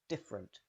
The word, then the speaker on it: different: chocolate chocolate finally indifferent the first e almost always disappears so you link directly from f to r different different different how did you do